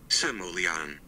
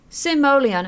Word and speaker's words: Simoleon: how to do it guys Simoleon Simoleon okay there that's that's how the video says to do it guys that's how you do it Simoleon there we go so